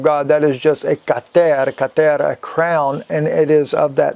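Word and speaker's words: כתר: And it is kater in Hebrew is how you say it, kater, which means crown.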